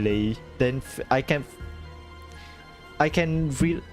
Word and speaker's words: Lei: I I just realized that her her name isn't like how you pronounce pronounce it isn't ly it's le I I was so like wait where's where's the isn't lei like l e i le lay then I can I